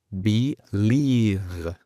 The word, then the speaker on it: believe: Belief o beliefs es un sustantivo, cuando el verbo es believe. Al final hay una V vibrante, que en español es complicado porque casi ni existe.